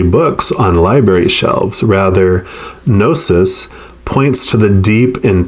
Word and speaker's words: gnosis: No, it's probably Gnosis. The G is probably silent, right?